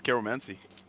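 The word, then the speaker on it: keiromancy: what's it pronounced like it's Carol mancy k e i r o mancy let's go so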